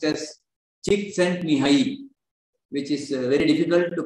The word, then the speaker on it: Csikszentmihalyi: So apparently it is pronounced as Csikszentmihalyi, which is very difficult to pronounce, but the